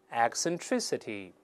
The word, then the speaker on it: eccentricity: 下怪癖，注意第一个字母 e 由 e 变成 i 这个声音，口型大一些，再来一遍，eccentricity，再来一遍